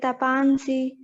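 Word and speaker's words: तपांसि: Again, while pronunciation, again here, tapansi is something like most of the Hindi speakers would say. Tapansi is also the right way to pronounce.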